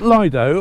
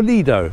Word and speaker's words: Lido: Now you can pronounce it Lido or Lido.